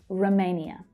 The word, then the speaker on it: Romania: And the first syllable is unstressed, so it reduces right down. Sometimes to the schwa, sometimes you'll hear Romania, but usually the schwa. Romania.